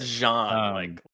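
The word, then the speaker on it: J'onn J'onzz: I always said Jean. That's how they say it in like the Justice League cartoon, but in the Young Justice, like the more recent stuff, they really put that. They really emphasize that apostrophe.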